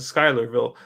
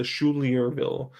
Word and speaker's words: Schuylerville: it up schuylerville yeah it's a schuylerville i believe last year i pronounced it the schulierville and i'm gonna have